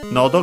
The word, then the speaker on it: nodo: And yeah, first we have this one that says Nodo ga kawaita wa. Actually, quite an important expression in Japanese. First and foremost, we have nodo, which means throat. And yeah, actually accent on the first syllable.